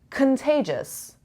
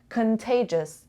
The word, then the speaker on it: contagious: you know boy idea contagious contagious contagious this is the schwa sound contagious the data the data contagious contagious the stress is on the second syllable placard placard placard the